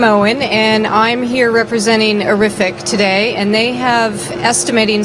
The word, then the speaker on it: Arifiq: and I'm here representing horrific today and they have estimating software that provides instant print quotes 24 7. and just so you can remember horrific rhymes with terrific thank you Joanne hi